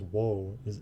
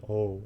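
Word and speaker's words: を: The O character, while technically pronounced as wo, essentially sounds like O in real speech.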